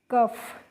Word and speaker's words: cough: ऐसे ही COUGH, तो सी को हम पढ़ते हैं क, और OUGH को पढ़ लेंगे फ, तो इसको पढ़ेंगे हम बच्चों कफ।